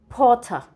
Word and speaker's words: Potter: The R must be silent. Potter.